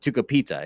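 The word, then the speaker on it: Tucupita: Shout out to Topita Marcana. And I don't even say his name right. Tucapita is actually his real name.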